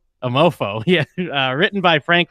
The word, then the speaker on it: Amour Fou: episode of this season I'm all fool that's pronounced a mofo a mofo yeah written by Frank